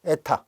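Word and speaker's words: η: 타라는 기호를 쓴 거예요 에타이 읽을 때 에타 읽으면 돼요 요렇게 쓴 거예요 이제 그리스문자 애예요 에라고 정확하게 발음 하겠습니다 자 이제 이렇게 해서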